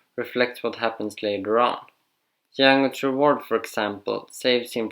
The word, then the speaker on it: Django: Django! You black son of a bitch! The D is silent here, Billy.